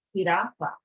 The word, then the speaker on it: jirafa: But whenever you see the letter J in a word, it's got the ha sound like our letter H. So giraffe is jirafa.